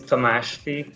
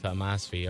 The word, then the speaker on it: Tamasfi: Yeah, the last little part was perfect. So okay. Last name is Tamasfi. Tamasfi.